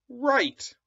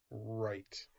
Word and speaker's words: write: r w RS ruff now in this book you're gonna see the word right like when you write words that's how you spell it WRI te right okay so we're gonna